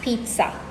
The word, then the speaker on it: pizza: But there is a T that is not there in the word that you have to inject into the middle of the word when you're pronouncing it.